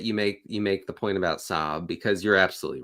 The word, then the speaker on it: Saab: How do you pronounce that? Sob. Sab.